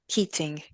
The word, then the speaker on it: Keatinge: Keatinge. You're Mr. Keatinge. You're exactly right. The E is there to confuse people, but not to be pronounced.